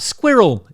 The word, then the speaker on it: squirrel: makes me go crazy when i hear that squirrel it's two syllables for a star rel